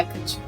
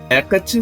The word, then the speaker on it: Hecate: A pronúncia correta é Hecate. Ok, se preferir. Hecate, se preferir, também conhecida como Perseia, é uma deusa grega, quase desconhecida e pouquíssimo mencionada nas principais lendas gregas.